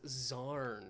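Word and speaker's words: Xan: Fashion the answer I was looking for was zarn spelled x a n I think um gorus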